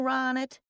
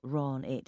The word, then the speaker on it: Ronit: He pronounced my name wrong, as usual, putting the stress on the first syllable, Ron it, instead of the second Ron it.